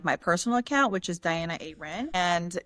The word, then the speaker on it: Dianuh Aerin: personal account which is Diana Aren. And it's spelled D I A N U H A E R I N, pronounced normal, spelled funky.